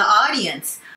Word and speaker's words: audience: When you get stuck while speaking, just play to the audience. Stuck っていうのは行き詰まるってことですね。while speaking, 話してる間に行き詰まったらってことですね。speak と talk の違いは、speak は大勢の前で喋るってことですね。 Just play to the audience. Audience ではなくて、あの発音で伸ばされますね。Audience.